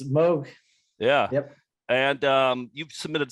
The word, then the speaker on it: Moog: It's pronounced Moog, not Moog. Yeah, it's Moog.